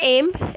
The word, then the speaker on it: aiment: Ent is not pronounced. So it is just aim.